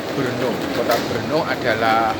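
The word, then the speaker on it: Brno: konsonan yang berjajar eh orang lokal menyebutnya dengan e kota e berno kota berno adalah e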